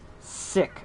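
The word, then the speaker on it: Syck: developer dreams uncorporated and sick announced that's s-y-c-k sick see that because cool spell things in alternative ways that have the same sound phonetically yeah it's sick yo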